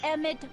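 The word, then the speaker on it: Emmett: That's EMTT Brown. Rhymes with clown, which I'm beginning to think you are.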